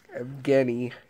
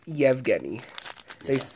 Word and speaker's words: Evgeny: 721 caps / Pittsburgh Evgeny Kuznetsov kuzey yeah regular shining star but I'll take it in your life i think in Russia it's pronounced yevgeni they say we say